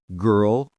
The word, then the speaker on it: girl: Dark L words, L comes at the end of the syllable, pronounced like O. Curl, girl, world, gnarl, pearl, carl, snarl, swirl, twirl.